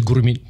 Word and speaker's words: Gurmit: Is it Gurmit or Gurmit? The Indian proper way to say it is Gurmit.